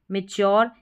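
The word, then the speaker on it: mature: मैच्योर यहां पर मैच्योर पढ़ा जा रहा है। यू आर ई को योर और टी जो है ना इसमें इसमें इसका च उच्चारण आ रहा है।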